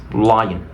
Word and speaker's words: lion: Por lo tanto aquí pronuncio lion. Lion. Una L palatizada.